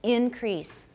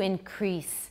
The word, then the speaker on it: increase: Increase. Stress on the first syllable. He needed to increase stress on the second syllable.